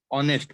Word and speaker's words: honest: because you pronounce it honest oh okay that is silent okay now he is